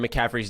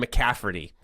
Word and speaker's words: McCaffrey: I've noticed that Carrick pronounces McCaffrey's name wrong. He says McCafferty.